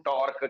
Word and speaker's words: torque: चलो, 26 टॉर्क, इसको प्रोनाउंस करो, टॉर्क, TORQUE, टॉर्क।